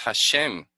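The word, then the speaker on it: Hashem: manuscrito antiguo dice que lleva no esto se pronuncia es hashém aquí está bien porque porque los mas sobretasas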